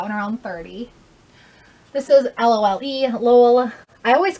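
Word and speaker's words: Lolë: I always call it LOLE instead of LOL, Lola, because I feel like when I say that out loud, like people who haven't heard of the brand are gonna think of something that's spelled out differently. So I always say LOLE.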